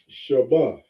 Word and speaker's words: shabbat: word all right so we have the ba and the thaw connected we're not saying we're saying i'll spell it here this is how you would read it shabbat so every seven days